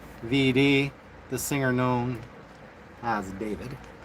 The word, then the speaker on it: D4vd: But prior to that, we will talk about that singer D4 VD, pronounced David, and his improper relationship with a junior high school girl named Celeste.